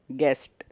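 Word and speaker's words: guest: वैसे ही आप देखेंगे गेस्ट, तो गेस्ट में भी वही है बिल्कुल। यू के पहले क्या है, जी, और यू के बाद क्या है, ई, और ई एक वोवल है।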